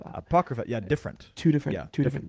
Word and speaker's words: Apocrypha: the root word uh that I probably can't pronounce correct of the the the apopica the the collection of books that aren't included. Oh, you know, I Tony almost it's um Apocrypha.